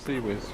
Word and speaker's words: CIWS: Pronounce CWIS. So keep Seawiz.